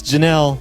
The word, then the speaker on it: Janelle: Janelle signed up and I pronounced the name wrong I forget how I pronounced it but it's Janelle thanks Jenelle for signing